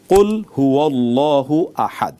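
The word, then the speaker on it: قل هو الله أحد: অর্থই হয় না বেসিক্যালি এই হু টা আল্লাহু এর হু এটা আহাদুনের সাথে সম্পৃক্ত নয় সেই কারণে আমাদেরকে উচ্চারণ করতে শুদ্ধ করে উচ্চারণ করতে হবে কুল হুয়াল্লাহু আহাদ এবং আরেকটি কমন আমরা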